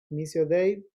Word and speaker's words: Missio Dei: Missio Dei tiene la idea, así se pronuncia en teología, y tiene la idea de entender la gran misión de Dios.